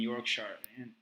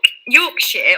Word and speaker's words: Yorkshire: Robin Hood's Bay and Yorkshire, and I'm not sure if it's the same one. So Yorkshire or Yorkshire, you can pronounce it both ways.